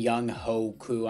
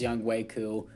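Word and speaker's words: Yannick Ngakoue: callahan at db and young hoku i know it's pronounced young waiku but whatever um aaron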